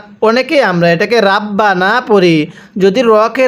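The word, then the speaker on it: رَبَّنَا: ওয়ামিনহুম মাইয়াকু এরপরে রব্বানা। অনেকে আমরা এটাকে রাব্বানা পড়ি।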